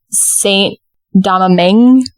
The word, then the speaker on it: Saint-Domingue: to do it wrong St daming it almost looks like Dominique but daming oh but it's a g